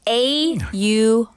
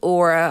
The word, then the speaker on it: aura: It's A-U-R-A. Yeah. So he says aura. I say aura.